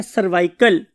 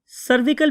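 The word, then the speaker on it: cervical: हैं वो क्या है सर्वाइकल सर्विकल भी बहुत से लोग बोलते हैं बहुत से लोग सर्वाइकल भी बोलते हैं स्पेलिंग आपको आने चाहिए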